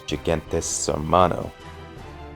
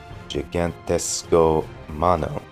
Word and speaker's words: Gigantesco Mano: then we get the first example of Robin's Gigantes Hermano. Wait, Gigantesco Mano. That's how you pronounce it.